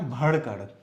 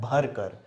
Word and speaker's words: भरकर: और ये क्या बना भड़कड़ क्या है भड़कर तो भड़कड़ नहीं होता है क्या होता है भरकर भ र इसका साउंड आता है र सिंपल र र उच्चारण पर ध्यान दीजिएगा